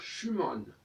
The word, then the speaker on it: Schumann: manche ou mal alors schumann c'est pareil on dit schuman alors qu'en france et on devrait dire schümann et puis il ya